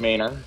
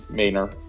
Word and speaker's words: Manor: They pronounce it Manor. It's spelled Manor, but it's Manor to us.